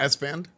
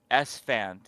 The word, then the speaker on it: Esfand: Esfand. Esfand. Okay, Yeah. it's basically you pronounce it exactly how it's spelled Yeah, and not yeah.